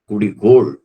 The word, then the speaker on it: குடிகோள்: பண்ணிட்டே இருப்பான் அதான் குடிகோள் குடிகோள் என்று சொல்ல வேண்டும் கோல் என்று அந்த குச்சியை சொல்லக்கூடாது கோல் என்ற உச்சரிப்பை சரியாக சொல்ல வேண்டும் குடிகோள் அது தீங்கைத்தல் அடுத்து அலையாவது கோல் முதலேன கொண்டு ஒருத்தல் குச்சி எடுத்து அடிப்பான்.